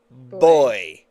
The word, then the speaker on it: buoy: buoy I buoys yeah but I think that's because I'm Canadian cuz apparently boy yeah is how you're supposed to say it and I said well